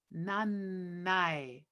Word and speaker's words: nanna e: So you may have noticed that the end of nanna and the e get turned into one syllable.